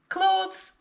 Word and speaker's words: clothes: Again though, make sure that you pronounce clothes correctly. Clothes is also a word that learners of English often mispronounce.